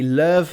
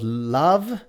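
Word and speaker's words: LÖVE: And I say love, not love, because I'm German, and whenever there are dots on top of a letter making it an umlaut, it changes the pronunciation.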